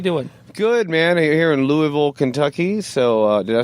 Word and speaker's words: Louisville: Here in Louisville, Kentucky. So, did I say that correctly? No. Oh. Louisville. It's like one giant like Louisville.